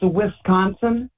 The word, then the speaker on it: Wisconsin: me anytime wiconsin is that what you could pronounce yeah yeah yeah say it again how say it right go ahead um it's Wisconsin that's how I say it we gotcha all